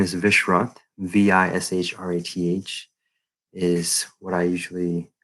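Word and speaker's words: Vishrath: i go by usually my full name is vishwat v-i-s-h-r-a-t-h is what i usually uh what i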